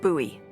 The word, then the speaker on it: Bowie: It's actually pronounced Bowie. What? No, it's like the last name, like David Bowie. Different last name. Bowie.